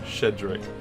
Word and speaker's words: Sheedrick: I'm sure it's pronounced Shedrick, but all I can